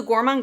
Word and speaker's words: Gourmande: so this is the gourman girls gandis with the French muted R go GES this palette